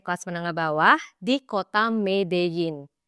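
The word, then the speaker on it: Medellín: menengah bawah di kota medeyin tulisannya sih medelin tapi dibacanya medein ya guys kota medin ini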